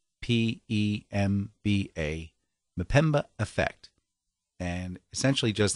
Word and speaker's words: Mpemba: it's called the um i hope i can pronounce this correctly the pemba m p e m b a pemba effect and essentially just that if you